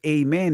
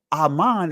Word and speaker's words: amen: notice where it says Amen in the Greek Amen in the Greek so Aman is actually the proper pronunciation of the word amen amen is the Greek pronunciation but Aman but when